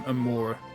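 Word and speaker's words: Amaura: good I like es oh it'll be um Amora is that how you pronounce it I got an Amora in Cobble Mon and I absolutely loved it yeah yeah I've looked through the rest of them Amora for sure 100% that's such an unbelievably cute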